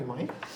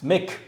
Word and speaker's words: Mick: Why you always picking on everybody, Mike? Keep calling me Mike. It's Mick.